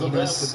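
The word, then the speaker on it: Enes: Stumps it down low to Enos, or Ennis, however you guys want to pronounce it. I think he pronounces it as Enos Cantor.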